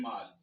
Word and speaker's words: mall: I know some people would have been pronouncing this as mall before. They will say shopping mall, whereas it's supposed to be mall. Why? Because what follows the AL here is not an M, not an M.